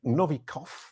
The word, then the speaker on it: Novikov: powerful brands we're here today with novikov i think that's how you say it yep